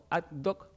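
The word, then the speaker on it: Ad Hoc: Eh, se pronuncia adoc como algo hecho adoc a medida.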